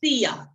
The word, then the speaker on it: silla: the chair so when it's two l's it's pronounced me so sia sia and crystal to the lasso please la